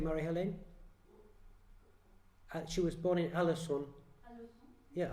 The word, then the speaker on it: Alençon: Forgive my French, but Alençon, I don't know how to say that. We have a French... How do you say it, Marie-Hélène? She was born in Alençon. Yeah, Alençon, okay.